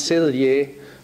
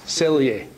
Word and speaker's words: Selye: Now, it was one of these Hungarians, Hans Selye, who came over to America in the 30s or so, ended up at McGill in Montreal, and framed the word stress.